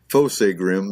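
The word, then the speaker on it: Fossegrim: Kingdom we hold most high so fossa grim pronounced fossa grim they're smaller than humans perfectly formed except for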